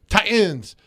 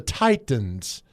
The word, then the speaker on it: Titans: No, idiot, it's the Titans. They're not the Ti-ans. Mhm. So if you say that, I immediately deduct 90 points from your IQ. The Tennessee Titans, not the Tennessee Ti-ans.